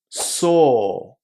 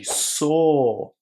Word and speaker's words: saw: This one is pronounced with a long o at the end. Saw. So yesterday I saw a movie and it was so good that I'm going to see it again.